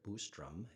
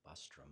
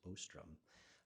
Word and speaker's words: Boostrum: focus of um kirk boostrum is how it's pronounced it looks like bustrum but it's boostrum um will be to